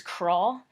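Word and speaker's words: Croix: um I think like the authentic French way to pronounce it is craw or something but um English-speaking people usually pronounce it Croy so that's what I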